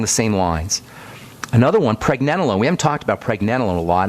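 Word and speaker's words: pregnenolone: want to know about pregnanolone by the way that's spelled p r g PR nen NE n o l o n e PR nen o loone we'll talk about that here in the coming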